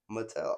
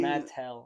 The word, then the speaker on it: Mattel: like that is dope as the way you're saying it is like if it had two T's in it Mattel I'm just pronouncing Matel I'm was just pronouncing the T how do you I'm not saying T like I'm not pronouncing yeah no but you're saying Matt tell okay just Matel all right all right I get I'm adding to space no it's like you're saying like there is two T's mat and and